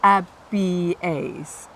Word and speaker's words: Abies: Otherwise, you always, if you've got more than one vowel, you'll pronounce them separately, Abies, okay?